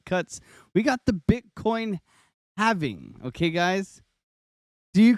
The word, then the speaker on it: halving: It's a halving. Okay. Doesn't it drive you nuts when people call it a halvening?